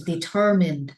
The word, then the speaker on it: determined: The middle, right? The middle, okay, the syllable stands in the middle.